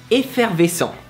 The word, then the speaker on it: effervescent: So just pronounce it the same way you usually pronounced it, but with a French accent.